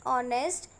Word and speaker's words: honest: An honest person. Here the word honest is starting with a consonant H, but while pronouncing honest, it is beginning with a vowel sound.